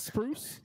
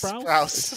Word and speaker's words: Sprouse: Is it Spruce? It's Sprouse. Sprouse.